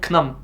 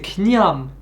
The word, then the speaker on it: ខ្ញុំ: Knyom, Et pareil, là, il y a une lettre qu'elle prononce, mais qui n'est pas écrite. C'est parce que là, on pourrait tenter de dire Knam. Sauf que c'est Knyam, avec un Y, en fait.